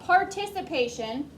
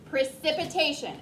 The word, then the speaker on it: precipitation: Precipitation, not participation. It's pri, si, pa, tay, shun. Precipitation.